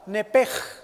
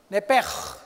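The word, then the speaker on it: נפש: Esa palabra vida es la palabra hebrea nepesh. Con SH al final se pronuncia en hebreo la SHJ, nepej. Y siempre los judíos hacen nepej.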